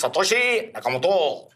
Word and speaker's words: Satoshi Nakamoto: The pronunciation is Satoshi Nakamoto.